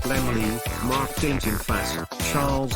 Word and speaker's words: Laemmle: Universal was founded in 1912 by the German Karl Laemmle, pronounced Lemley, Mark Dintenfass, Charles O.